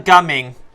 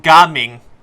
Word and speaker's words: Gaming: Also, dann sagt wirklich die Aussprache Gaming. Obwohl, er hat das A ein bisschen lang ausgesprochen. Gaming. Als wäre er, sagt, nur ein H dabei.